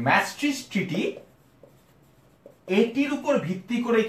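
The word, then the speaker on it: Maastricht: করতে পারি না ট্রাস্ট মি অনেক কঠিন একটা উচ্চারণ ম্যাস্ট্রিচ এরকম হচ্ছে এটার উচ্চারণী ম্যাস্ট্রিজ ট্রিটি এটির উপর ভিত্তি করেই কিন্তু ইউরোপিয়ান ইউনিয়ন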